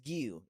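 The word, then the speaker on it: Giyu: Right as that Gio? shit happens, Gio, man, My boy Gio. or Gio. Is it Gio or Gio? I think it's Gio.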